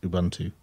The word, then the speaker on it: Ubuntu: distribution that I happen to use which is Ubuntu and I know some people pronounce it differently some people say Ubuntu and